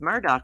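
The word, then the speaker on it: Murdaugh: i think your name is sound better pronounced murdah like it sounds it's pronounced murdock i reckon let's see no i didn't read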